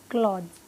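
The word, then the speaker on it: clothes: बट कई बार लोग नहीं प्रोनाउंस कर पाते तो हम ऐसे इससे भी काम चला लेंगे, क्लॉथ्स, क्लॉथ्स, क्लॉथ्स, स नहीं है पीछे ज है, क्लॉथ्स, क्लोथ्स, ठीक है।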